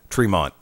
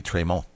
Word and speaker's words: Tremont: Heavyweight Championship Matt trone so many ways I can pronounce his name and I try to say it properly because I've been corrected on it before Tremont supposed to be traymont versus black G's versus